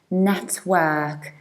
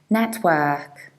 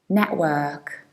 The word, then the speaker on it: network: work so we say network network however in a fast and casual speech we usually have a glottal stop and we skip this t and as a result it sounds like network network and that's actually